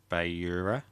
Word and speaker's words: beure: So, it'd be per beure.